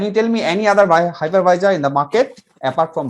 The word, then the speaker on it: hypervisor: i did it okay so uh the correct pronunciation is called hypervisor high par hi level if you just break